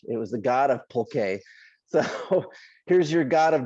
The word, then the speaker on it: pulque: it wrong too but i'm assuming my spanish that it's that is pulque it might even be pulque yeah like a little little u so essentially they were